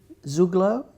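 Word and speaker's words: Zugló: Zuglo? Is that the right pronunciation?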